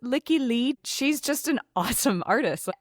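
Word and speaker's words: Lykke Li: I'm going to explain why these two songs are a couplet in a second, but also I think you'd pronounce it Licky Lee.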